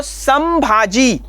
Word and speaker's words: संभाजी: इस्तेमाल करना पड़ता है संभाजी शब्द का जब हम उच्चारण करते हैं तो संभाजी तो यहां पर म का उच्चारण करना पड़ता है किंतु वही अनुनासिक जब